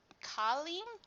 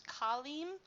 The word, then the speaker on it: Kalim: other good boy uh I think it's pronounced Colleen or k no it's kalim I hope I hope